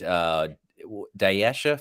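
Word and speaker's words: Dyaisha: Notre Dame Syracuse game and I really liked Daisha Fair. Is that how you say her name? Daisha Fair, the point guard. Deja. She was Deja.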